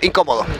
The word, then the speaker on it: incómodo: El acento en la I la lleva. Permíteme un momentico. No, en la... En la primera O, incómodo.